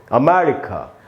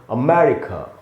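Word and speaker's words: America: इसको हम ऐसे पढ़ेंगे दोस्तों, अमेरिका। अब इसमें मैं में जो ए है वहाँ पर ज़्यादा रुकना है आपको, वहीं पर स्ट्रेस है, मैंने उसको अंडरलाइन कर दिया है। तो इसको हम पढ़ेंगे अमेरिका, और क के बाद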